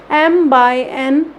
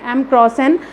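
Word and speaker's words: m × n: इसको क्रॉस से प्रोनाउंस नहीं किया जाता है, इसको प्रोनाउंसिएशन इसकी रहती है m क्रॉस n की, m बाय n। हमेशा याद रखिएगा मैट्रिक्स को प्रोनाउंस कैसे किया जाता है? m बाय n matrix. लिखते हम हमेशा ऐसे ही हैं क्रॉस में, m क्रॉस n, बट हमेशा उसको बोलेंगे क्या? m बाय n।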